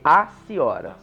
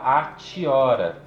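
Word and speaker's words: Hatiora: Outra regra do latim científico é que se a sílaba TI na sequência tiver uma vogal, então ela tem som de si, né? Então a gente não fala atiora. Esse TI vira som de si e fica aciora.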